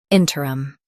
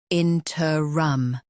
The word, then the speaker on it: interim: in-ter-rum in-ter-rum Now, read the syllables of British pronunciation shown on the screen naturally. in-ter-rum in-ter-rum US ter UK trum Don't drop tr in UK.